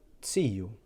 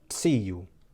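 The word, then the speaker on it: ziju: Notice how that letter has more of a t sound at the beginning. It's ts, tsiu, or tsokor. So it's slightly different to the Z here at the top.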